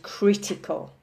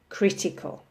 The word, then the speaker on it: critical: So these are words with 3 syllables with the emphasis on the first syllable. So we have regional, national, and critical. Okay, regional, national, critical.